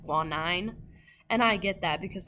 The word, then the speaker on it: guanine: I included their pronunciations in case you're not sure how to say them. So the first one is guanine.